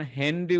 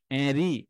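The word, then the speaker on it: Henri: যেমন হেনরি উচ্চারণ করছি। হেনরিটা সব জায়গায় হেনরি নয়। কোন কোন জায়গায় এরি এরকম উচ্চারণ আছে। এরি এইটা এ উচ্চারণ আছে।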